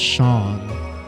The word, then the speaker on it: Seam: The name Seam, pronounced Shawn, Shim.